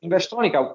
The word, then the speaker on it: Investronica: Is that the way you pronounce that? Yes, Investronica.